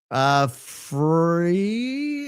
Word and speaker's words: Friel: Free is pronounced free.